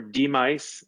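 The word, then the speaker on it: DMICE: department of medical informatics and clinical epidemiology or demise as our acronym is pronounced we are an academic department in the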